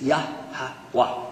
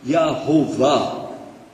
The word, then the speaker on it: Yahweh: So, Jehovah is definitely an English pronunciation of the word Yahweh. It's Yahweh without any vowels. Non-Jews added vowels and said, well, it's probably Yehovah. But it's Yahweh. Wah.